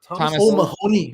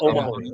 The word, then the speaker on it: O'Mahony: I'm sorry can you pronounce that, Jay? It's Thomas O'Mahony. Mahoney. Mahoney. I think it's Irish. It is O'Mahony.